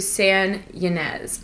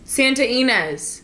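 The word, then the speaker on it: Santa Ynez: going to head out to San yanz I feel like that's not how you say it Sanz I was so wrong Santa inz Santa Enz Santa inz I totally messed that up Santa Enz okay I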